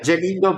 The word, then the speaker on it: Gelindo: Jelindo, so it's quite quite easy, let's say. Awesome. Well, Jelindo, uh, the first question of this podcast is always a tough one.